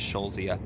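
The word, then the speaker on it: Eschscholzia: is Michelle Zia and that's a really weird spelling e SCH SCH olz IA so to s CH is in a row but I believe you just pronounce it as sho Zia but yeah one of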